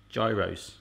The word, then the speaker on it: gyros: a gyro, while gyros would be the correct pronunciation if you were to say I love gyros.